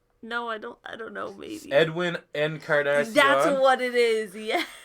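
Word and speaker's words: Edwin Encarnación: Edwin Encarnacion. That's what it is, yeah. Eddie Carnation. There we go. Okay, but I still sort of knew. Not how you. Nope. Not how you say his name.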